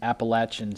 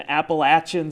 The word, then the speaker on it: Appalachian: But I think what happens in the state of Wisconsin, we're so used to saying A. Yeah. And I think it just rolls off as Appalachian.